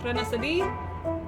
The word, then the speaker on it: Trenasaadi: To get some informal introductions out of the way, in the event that you can't pronounce that name that's above my head, that's fine. It's pronounced Trenasaadi.